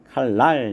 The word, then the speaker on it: 칼날: 그래서 1번 칼날 같은 경우 리을하고 니은인데 요 니은이 유음 리을로다 이렇게 바뀌어서 발음이 되겠죠. 그래서 날이 아니라 랄 발음은 요렇게 칼날 이렇게 발음이 된다라는 걸 살펴볼 수가 있고요.